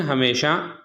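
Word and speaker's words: hymn: इसी तरह हिम है, एम के बाद एन है तो ये क्या हो जाएगा, एन साइलेंट हो जाएगा।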